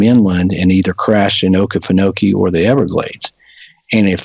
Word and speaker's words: Okefenokee: Yeah, Okefenokee.